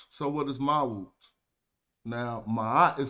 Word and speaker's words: Ma'at: So that sickle is just a way to pronounce the consonant or the sound ma. But if you put a T after it, it's gonna say ma'at. Ma'at.